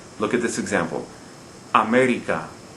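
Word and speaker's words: América: look at this example america the word ends in a vowel america we don't stress the second the last syllable as the rule would require we stress the third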